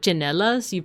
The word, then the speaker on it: tsinelas: Well, like, I guess I'm used to saying the TS. Like, you know what chinelas? You like spell it TSINELAS. I've never heard it pronounced cinelas. I've only heard it chinelas. But maybe that's like a geographical thing, right? So like I know they're spelled TS, but I've never heard it pronounced TS.